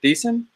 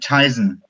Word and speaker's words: Thiessen: Is it Thiessen? Close enough. Well, tell me how it actually is supposed to go. I pronounce it Tyson.